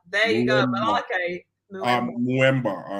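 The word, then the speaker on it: Mbeumo: Mwemba. There you go, Malake. Mwemba.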